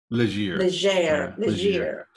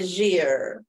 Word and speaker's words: Legere: How do you pronounce yours? Legere. Oh, excuse me, it's French sounding. Kind of mispronounced. Yeah. Legere.